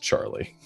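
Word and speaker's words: Tjarle: like what uh yeah it's spelled t j a-r-l-e uh but it is pronounced charlie amazing um the uh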